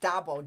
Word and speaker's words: DABO: what is what is Dabo d-a-bo is how we pronounce it yeah the Detroit